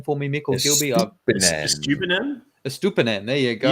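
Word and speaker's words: Estupiñán: Estupinan. There you go. You can just say you stupid nan if you want.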